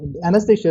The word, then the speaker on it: Anastasia: Yeah, it's pretty hard to pronounce your name, Anastasia. Anastasia is fine.